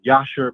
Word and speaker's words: Jasher: Well, it's spelled Jasher, but I pronounce it as Yasher because that's the correct way to say it.